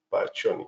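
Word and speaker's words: Pacchioni: le llamamos granulaciones pioni se pronuncia poni no entonces aquí tenemos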